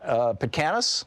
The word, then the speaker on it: Petkanas: Zac Petkanas, am I saying it right, Zac?